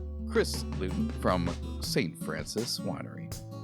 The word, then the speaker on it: Louton: On this episode, we interview Chris Luton from St. Francis Winery. I said the last name wrong. Wait, Loud Luton. No, you didn't.